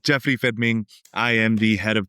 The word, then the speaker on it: Jeffrey Fermin: My name is Jeffrey Fedming. I always like to pronounce it the Spanish way, but everyone can call it the uh typical English way. Uh with that said, Jeffrey Fedming.